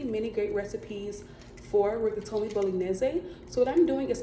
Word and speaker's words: Bolognese: I used to say Bolognese, but the correct Italian pronunciation is Bolognese.